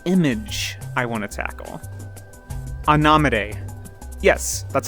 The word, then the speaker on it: Anomidae: Anomide. Yes, that's how you pronounce it. Not anomide, not a gnome a day, but Anomide.